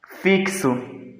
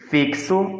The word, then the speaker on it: fixo: Fixo, ela tem 4 letras e 5 fonemas. Aqui, a palavra fixo, né, que no caso ela é com X, nós vamos ter aqui o som de K e S, tá?